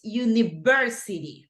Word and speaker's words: university: It's university, right? Over there, you have the stress, university.